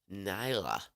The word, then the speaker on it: Naja: Written in English, it's Naja. Oh, my. Okay. How do you say that? So she says, you say it, Nyla.